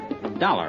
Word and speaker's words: Dollar: Dollar, huh? Yeah, rhymes with collar.